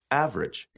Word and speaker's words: average: immediately after a stressed syllable is sometimes not pronounced mhm average average average yeah different different separate separate after